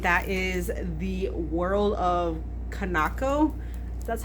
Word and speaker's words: Kanako: snagged it, and that is The World of Kanako. That's how you pronounce it.